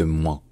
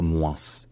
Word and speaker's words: moins: prestige en français central ce mot il se prononce juste moins donc il rime avec tous les mots en